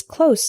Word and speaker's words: close: are two common examples the word close with an S sound means near not far for example my house is close to the bus station